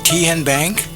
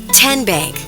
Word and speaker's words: TenBank: How do you say the name Ken Bank? Nope. Kin Bank. Uh-uh. So, what is it? Tenbank. 10 as in Tennessee.